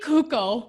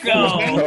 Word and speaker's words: Cuoco: Kaylee Kuko. Nobody knew. Cuoco? How do you say it? Cuoco.